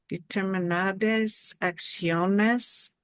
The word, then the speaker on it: acciones: This is another combination here with this word acciones, where we want to make the sh go bye-bye, okay?